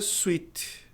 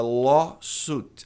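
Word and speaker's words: lawsuit: Muita gente pronuncia su sete. Site. Sweet parece doce. Sw e e t. Esse i tem som de u apenas. É law sut.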